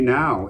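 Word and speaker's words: Nau: Number 10, Tammy Now, N-A-U, Tammy Now, I think it's pronounced.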